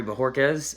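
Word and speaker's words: Bojorquez: welcome to green bay cory bejorquez and um i know that's a complicated name for some of you but that is exactly how you say it and uh dude hit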